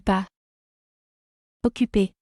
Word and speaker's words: pas occupé: Here you can also make the liaison between. Pas occupé. And you can say, Je ne suis pas occupé, mais je suis malade. or you cannot make the liaison and say, Je ne suis pas